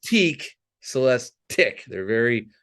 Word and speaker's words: Celestiq: uh, not Celeste. Celestique, Celestique. They're very rhymes with lyric. Their other new EV. Okay. Yeah. So and I kept going. So it's tick, not teak, and they're like, yeah, it's tick.